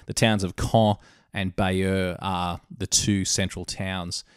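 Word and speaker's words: Bayeux: of core which is CAE en core it's pronounced and further to the west the town of Beier which is B a ye UX so grab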